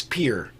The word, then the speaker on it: Pierre: capital of my uh state of South Dakota it's spelled Pierre it's Pierre like you dock your book at boat at